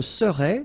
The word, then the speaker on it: serais: Je serais, same thing here, final S not pronounced.